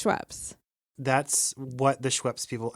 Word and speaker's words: Schweppes: And the big three brands of those are Canada Dry, Seagram's, and Schweppes. Are we agreed that it's pronounced Schweppes?